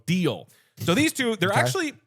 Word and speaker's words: Deel: are Rippling and deal deal is spelled de or sorry deel so deal so these two they're